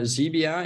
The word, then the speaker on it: Xebia: Yeah, so Xebia, and you spelled with an X, by the way.